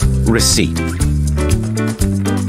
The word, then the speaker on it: receipt: P is not pronounced in the following common words. Example, job, receipt, core, psychology, pneumonia, pneumatic.